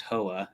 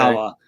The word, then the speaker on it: Howa: It's actually pronounced Hoa in Japan, but Okay. Howa.